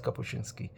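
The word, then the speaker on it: Kapuściński: I should keep saying his first name, Richard Kapuchinski, because I now I know how to pronounce his name.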